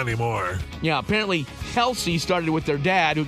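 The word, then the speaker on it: Kelce: meanwhile did you know we've been saying Jason and Travis Kelsey's last name wrong this whole time what is it kelky it's Kels Kels just simply Kels well not anymore yeah apparently Kelsey started with their dad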